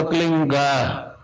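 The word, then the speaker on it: क्लीं: की मात्रा और बिंदी, उसका उच्चारण होगा क्लीन गा। गा की ध्वनि निकलेगी पीछे। आप अंग बोलो, यहां स्ट्रोक लगता है, अंग बोलो।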